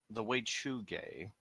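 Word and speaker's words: Wechuge: The Weichuge is how it says it's pronounced on Wikipedia.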